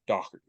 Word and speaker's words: Doherty: pronounce their last name dork but in Ireland it's actually pronounced dockerty um and actually I